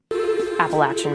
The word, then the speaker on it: Appalachian: correct way to say it let's hear that appalachian mountains appalachia mount so that is the correct